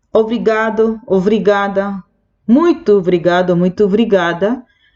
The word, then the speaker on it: obrigado: En la pronunciación, esa primera O se pierde, casi no aparece. Es obrigado, obrigada.